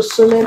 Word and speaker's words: solemn: M coming at the end of a word after letter M, the N is not pronounced. So is silent in this word, but it's pronounced in the other three words.